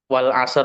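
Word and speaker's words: والعصر: Itu hamzahnya wasal berarti harakatnya tidak terbaca. Makanya wal asr tadi ya. Walaupun di alif lam itu ada harakatnya apa? Fathah. Misal itu jika kita bacanya dari wa maka tidak terbaca. Walaupun ketika dibacanya dari al itu ya betul-betul al al-asr seperti itu.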